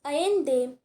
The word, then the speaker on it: Allende: तो देखिए next paragraph में, these are some extracts from the last speech of Salvador Allende, pronounced Allende.